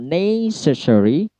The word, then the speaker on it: necessary: Kalau necessary itu ne-nya yang diberikan stressing.